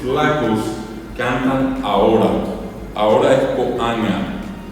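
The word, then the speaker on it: ko'ãga: Se escribe K o puso a con a con acento acento común. La g nasal, la g nasal y la a oral. Así sin acento en la A. La A común y corriente. Vuelvo a repetir. K o a con acento acento común. La g con acento nasal y la a común coanga. Coanga es nga.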